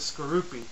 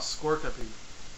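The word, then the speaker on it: Skorupi: Coming in at number 6 is Skroupi. I used to call it my personal preferences and my pronunciation of it. It's called Skorkapi, not Skroupi.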